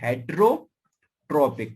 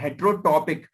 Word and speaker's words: heterotopic: एक होती है एक होता है ऑर्थोट्रोपिक, ऑर्थोट्रोपिक, और एक होता है हेट्रोट्रोपिक, ठीक है। ठीक है, एक होता है हेट्रोटॉपिक, इसमें ट्रॉपिक नहीं है, टॉपिक है, ये आर नहीं है, ठीक है।